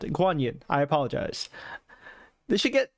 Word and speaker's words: Guanyin: uh GUI Young or uh that's how you pronounce it guanyin I apologize they should get Michelle yeah to